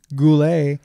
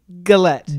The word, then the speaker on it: Gullett: we have today on so we have Daniel Goulet but that's how you're pronouncing that it's and I heard I heard definitely a gret galette good luck galette okay go let's often often